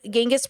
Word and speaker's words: Ganges: Yet, it was on the banks of the Ganges River, is how you say it, that her search ended when 1990, she met her teacher, Siri Punja.